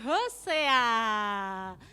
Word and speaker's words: Hosea: Ya, Nabi Hosea.